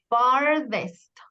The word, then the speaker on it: farthest: Cuidado con la pronunciación. Farthest, farthest.